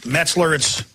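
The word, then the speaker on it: Meltzer: How do you pronounce it? Brad Metzler? It's Metzler. Here it is.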